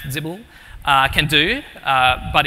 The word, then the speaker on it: XBL: It's kind of similar to what XBL, or as I've discovered today is pronounced Zibble, can do, but it's